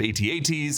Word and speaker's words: AT-AT: Actually, its name, At-Attin, we're pretty sure is a nod to the alternate pronunciation of AT-ATs, or Imperial Walkers, also known as At-Ats, and I just kind of feel like John Watts might be an At-At guy.